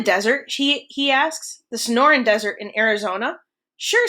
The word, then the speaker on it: Sonoran: crew of boys snickers sonoran ben pronounces the word slowly it's the name of the desert around where i lived in tucson so no run snoring frankie sneers whatever